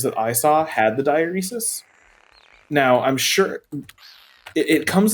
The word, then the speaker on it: diaeresis: First of all, apparently the word is pronounced diaeresis.